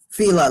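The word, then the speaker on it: philia: keep saying f because it's pronounced f uh p h i l i a fila love and it's an affectionate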